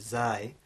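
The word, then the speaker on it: ز: So we have zai, which is the English z, words like zebra.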